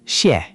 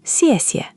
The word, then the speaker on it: xièxie: Thank you is the full xièxie, both syllables. Just xiè on its own isn't the standard polite thank you.